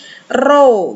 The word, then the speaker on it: rho: Rho, kita tuliskan di sini P, tapi dibacanya rho sama dengan 1,72 kali 10 pangkat negatif 8 ohm meter satuannya.